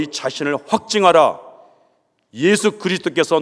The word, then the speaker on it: 예수: 명칭을 주의깊게 살펴보시기 바랍니다 예수여 예수 무슨 뜻이죠 수아라고 하는 히브리어의 헬라식 발음이 예수라고 하는 뜻입니다 여호와는 구원이시다 하는 뜻이죠